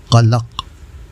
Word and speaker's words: قلق: حاضر ہے ناصر عزیز۔ آج کا لفظ ہے قلق، جو درست ہے۔ عام طور سے قلق بولا جاتا ہے جو غلط ہے۔ اس کے معنی ہیں